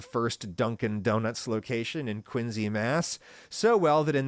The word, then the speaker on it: Quincy: Mass, which is pronounced like a Z, Quincy, not Quincy.